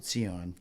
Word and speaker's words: Tzion: Or well, there is a letter in Hebrew, Tzion. It's a tz, like pizza. Tz.